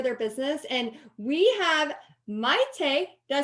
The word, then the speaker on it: Mayte: And we have Mayte.